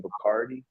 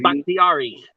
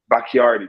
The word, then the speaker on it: Bakhtiari: like the left tackle, David Bacardi, but I can't pronounce his name, man. David Bakhtiari. Bakhtiari, thank you, sir.